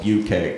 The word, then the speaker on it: bukkake: If you didn't know how to pronounce it, it's actually called bucake.